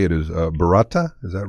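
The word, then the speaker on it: burrata: not even sure how to say it is barata is that right yes um it is an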